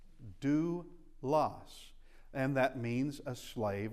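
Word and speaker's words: δοῦλος: Remember this is a dip thong and it's the ooh sound. So delta omocrron oopsilon is do loss due loss and that means a slave or a servant.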